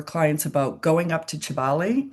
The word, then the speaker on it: Kibale: about going up to Kibale. It's spelled with a K, but pronounced with a CH.